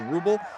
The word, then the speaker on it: Ruble: is it the ruble I think I said Rubble before it's the ruble says that's how you pronounce my last name you butchered it my